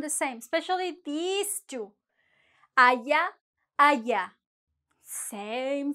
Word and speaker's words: allá: Allá, allá. Same sound, el mismo sonido. This one may be a tiny bit different. Allá. Con el acento en la última A.